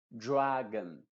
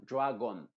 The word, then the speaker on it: dragon: Y las palabras de más de dos sílabas que terminan en on, en general se pronuncia esa O con una schwa. Se diría dragon, no dragon, ni demon, ni falcon, sino que dragon, demon, falcon, cannon, melon.